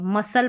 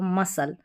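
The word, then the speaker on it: muscle: और ना वाई है फिर भी हम एस सी को क्या पढ़ रहे हैं स देखिए मसल पढ़ा इसको मसल ठीक है मसल पढ़ा तो इस तरीके से आपको कई सारी स्पेलिंग्स दिख भी जाएगी।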